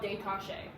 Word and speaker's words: détaché: What we're doing, 1 note per bow, that's called détaché. So détaché is spelled like detached.